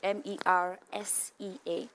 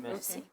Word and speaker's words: MERSEA: And then I just changed the spelling to MERSEA, MERSEA. Like the sea. Though vocabulary, the pronunciation is meant to be MERSEA, but I said I still want that pronunciation, MERSEA.